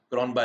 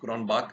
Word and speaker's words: Cronbach: Alpha this is called this is how you pronounce cron by Alpha not cronbach Alpha it is cron Alpha okay n of